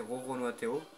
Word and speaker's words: RoronoaTheo: Donc pour ceux qui veulent m'ajouter au cas où sur PSN, le compte que j'ai c'est Roro Noateo. Donc comme ça se prononce, hein, RORONOATHEO. Pas d'accent, rien.